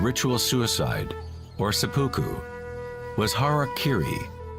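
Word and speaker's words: hara-kiri: In the samurai tradition, one form of ritual suicide or sapuku was hariri was often mispronounced as Harry Kerry.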